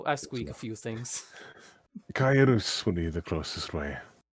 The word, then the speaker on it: Kaelus: Closest for human pronunciation. Oh, granted, you're not human, but it's still. I squeak a few things. Kaelus would be the closest way.